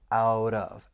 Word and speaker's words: out of: final T in out, you're going to hear me pronounce it as a flap T because it comes between two vowel sounds and then I can